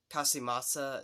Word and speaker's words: Casamassa: But still, overall, this guy did a great job as Scorpion, so I'm definitely giving Chris, Casamassa, that's how you say his name, Casamassa, I'll give him a thumbs up for his performance in Mortal Kombat Conquest.